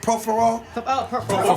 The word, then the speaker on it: propofol: Propofol.